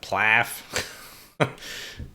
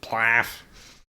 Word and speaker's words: PLAAF: How would you pronounce that? Plaff. Conducting. Sounds like some language's onomatopoeia for vomiting. Plaff.